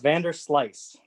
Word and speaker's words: VanderSluis: say your last name it's pronounced vander slice ah evander slice that sounds better not spelled that way whatsoever yeah that was the